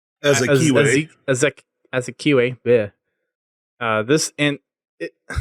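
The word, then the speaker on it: Azikiwe: Azakiwe.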